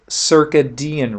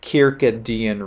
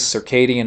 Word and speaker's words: circadian: are called circadian rhythms sometimes you hear pronounce uh circadian rhythms or if somebody really wants to get latin on you they would pronounce it kirkadian rhythms as well so different ways circadian is probably the most common pronunciation for it we'll talk about circadian